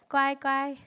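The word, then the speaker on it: 乖乖: Is it fourth tone? First tone. Guai guai.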